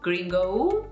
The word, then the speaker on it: gringo: Gringo? Is it gringo or gringo? Gringo, okay? That's the right way to say it. Gringo. Remember, O's are short.